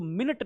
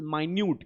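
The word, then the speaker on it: minute: mass of डी meaning ये इसको मिनट नहीं पढ़ेंगे कई बच्चे इसको मिनट पढ़ने हैं मिनट नेट इस मी न्यूड क्या है इसका प्रनंसीएशन उच्चारण होगा मी न्यू डी mass of मी न्यूड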